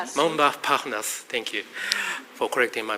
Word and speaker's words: Montparnasse: By the way, this morning I was walking from my hotel to this area, passing through this area called Montparnasse. Montparnasse, thank you for correcting my pronunciation.